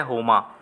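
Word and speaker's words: Homer: तो सही जवाब है हो मां ऑप्शन नंबर सीएसयू जाएगा होमा इसमें आर जो है वह साइलेंट है इसलिए इसको होना पड़ा जाता है हैं इन्होंने क्या लिखा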